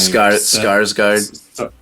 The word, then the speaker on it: Skarsgård: the way he synced with how do you pronounce that actor's name? Skarsgård.